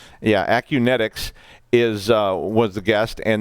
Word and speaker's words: Acunetix: Daniel Mercier the the senior security researcher at acuña tick's I'm at Unitec kinetics sorry I said it wrong yeah Acunetix is was the guest and they talked about